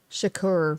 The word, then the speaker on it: Shakur: you should acquire how do you say that shakur shakur okay he was shot on this day